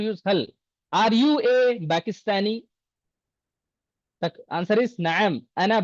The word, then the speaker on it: Pakistani: In Arabic language, there is no P. All the P sound will convert into Ba in Arabic. Always remember. Paris. How do you say? Paris. Every P will turn into Ba in Arabic. Because there is no Pa in Arabic.